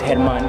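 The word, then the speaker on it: Germán: yeah that's his name in spanish it's hedman because you know the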